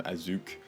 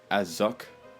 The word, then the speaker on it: Assück: Uh on one of my favorite bands of all time Asuk. Uh it's not actually pronounced as suck due to the umlaut with the U and it's not a portmanteau of ass and suck.